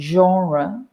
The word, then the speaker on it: genre: premiere like the genre both of those words come from french and we try in english we always try to pronounce these foreign words uh in the foreign accents it's not like spanish